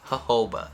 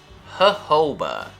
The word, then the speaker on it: jojoba: sure it's jojoba jojoba this specific sound in english is very light it's a very soft exhale jojoba just make sure that o after the second j is there jojoba you got it it's